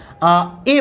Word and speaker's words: a: और एन का, अब ये जो अ साउंड होता है ये 90% केस में होता है। जब भी हम बात करते हैं, बोलते हैं, तो उसमें 90% आपका क्या आता है, ए को हमें प्रोनाउंस क्या करना होता है, अ प्रोनाउंस करना होता है। और 10% जो केस बचता है उसमें हम, यानी रेयर 10% केस में हम किसका यूज करते हैं, ए बोलते हैं।